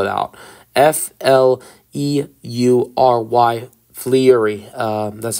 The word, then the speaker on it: Fleury: F-L-E-U-R-Y. Fleury, that's how I'm going to say it.